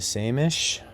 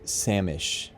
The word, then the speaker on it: same-ish: we are into the same ish samish not to be not to be pronounced samish I think I pronounced it samish in one of my